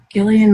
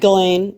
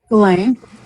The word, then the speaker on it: Ghislaine: Does anybody remember, and I can never pronounce her name right, Gillian Maxwell, right? Ghislaine, yeah. Ghislaine.